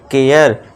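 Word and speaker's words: care: इसे क्या पढ़ेंगे डेयर अब इसे करे मत पढ़ना केयर सरे नहीं शेयर डरे नहीं डेयर है ना ए का साउंड देना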